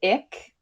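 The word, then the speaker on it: Icke: And it's a conspiracy theory popularized by David Ick. Yeah. His last name is spelled IC ke.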